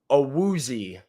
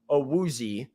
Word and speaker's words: Awuzie: It is pronounced Awuzie, according to him. It's a little unnatural. I know. Chidobe Awuzie is how he said you would say his name in English. So I'm still kind of adjusting, trying to say it consistently, but that is what Cheeto has said his name is pronounced like.